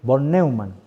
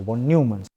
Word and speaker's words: von Neumann: conoce como la estructura o el modelo de von Neumann, o von Neumann, pronunciar así, que es uno de los que